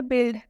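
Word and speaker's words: build: में आ गया होगा इसका एक एक्सेप्शन भी है इस रूल का सारे रूल्स के कुछ ना कुछ एक्सेप्शन होते हैं इसका भी एक अपवाद है और वह अपवाद क्या है बिल्ड बी यू आई एल डी यहां पर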